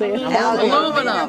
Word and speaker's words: aluminum: How do you pronounce it? Aluminum.